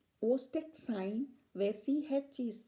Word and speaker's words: Chvostek: So these are called Ostek sign, where CH is silent, and it's spelled as Chvostek sign and pronounced as Ostek sign, CH silent.